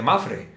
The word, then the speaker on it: Mapfre: seguros que se llama Mafre? Claro, ¿Para qué sirve la P de Mafre? paná, Pana. claro, porque no se pronuncia Está ahí pana. y silent. ¿Y qué es Mafre.